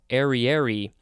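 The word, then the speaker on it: ariary: saying that arie ariery i think the emphasis is on the third syllable ariery it is spelled a-r-i-a-r-y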